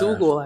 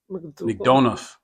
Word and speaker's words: McDonough: McDougal, I think. No, McDonough. McDonough.